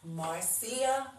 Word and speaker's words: Marcia: My name is pronounced Marcia like Garcia.